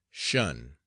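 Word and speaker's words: 'shun: the command shun Squad abbreviated from attention and pronounced shun if the plea was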